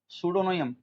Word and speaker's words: pseudonym: सुडोनियम, सुडोनियम, सुडोनियम मतलब ध्यान रखना, सुडो मतलब झूठे से होता है, PSE डो NYM, सुडोनियम उसको बोलते हैं जो